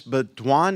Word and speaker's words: Beaudoin: Beaudoin, is that how you pronounce it? Did I get it right? Oh, my That's goodness. perfect. That's the French version.